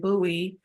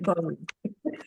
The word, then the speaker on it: Bowie: that when you say my doctor is located over and buoy you know they may pronounce it Bowie you know and or